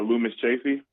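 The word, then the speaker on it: Loomis Chaffee: school that you went to how do you pronounce it uh Lumis chaffy Lumis chaffy okay I saw John Rockefeller went to high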